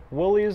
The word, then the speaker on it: Willys: What we've got here today is my 1942 Willys or Willis, depending on how you pronounce it, model MB.